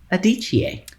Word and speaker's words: Adichie: Ngozi Adichie.